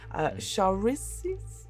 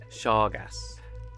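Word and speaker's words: Shargaas: And a god here, the orcish god of stealth, Sharizis? Is that Sharazis? Again, Shargas.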